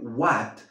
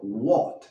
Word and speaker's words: what: No vamos a decir what, pero what. Esa A es más cerrada.